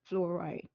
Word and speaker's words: fluoride: It's pronounced, fluoride.